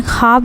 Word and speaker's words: ख्वाब: ख्वाब लिखते हैं। खे व अलिफ बे। ख्वाब जो लिखा जाता है तो व को साइलेंट रखा जाता है।